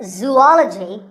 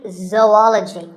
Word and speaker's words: zoology: do you say it if you said zoology it's actually wrong that is a very common mispronunciation this is actually zoology zou and ology zoology number 42 is develop